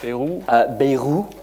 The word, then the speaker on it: Bayrou: But the French Prime Minister, who I actually have a hard time pronouncing his name, Bayrou, very good, recently said, and it's here somewhere,